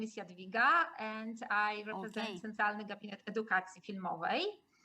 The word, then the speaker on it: Jadwiga: from poland greetings from pooch my name is jadaviga and i represent central education i know it's pronounced uh difficulty difficulty and with difficulty and